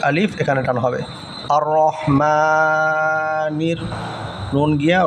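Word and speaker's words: رحيم: মিমের ভিতরে এক আলিফ এখানে টান হবে আর রহমানির নুন গিয়া র ধরেছে কারণ রপরে আছে হলো তাশদিদ তাশদিদ থাকার কারণে নুন গিয়ে হলো র কে ধরেছে আর রহমানির রাহিম রহিম এখানে আবার এখানে তিন আলিফ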